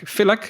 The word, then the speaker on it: Filak: Filak, is that a good way to pronounce it? That's correct.